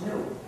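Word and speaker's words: gnu: for campus workplace because according to the dictionary the g is silent and it's pronounced new so anytime you wanted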